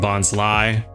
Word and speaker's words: Bonsly: I've always pronounced it Bonsly. I've heard a lot of people recently saying Bonsly. Kind of makes sense with the whole sly nature of it, with it being a fake tree, but for some reason Bonsly just sounds right.